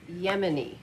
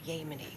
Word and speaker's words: Yemen: cooperation I'm to expect it's Yemen not yeny can you say that Yemen I think the people here might appreciate it if you could pronounce the name of their country properly pardon me I'm sorry